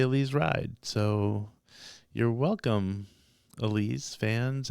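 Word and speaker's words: Elize Ryd: Heard the other day somebody said Elise ride so I'm gonna now say Elise ride so you're welcome Alise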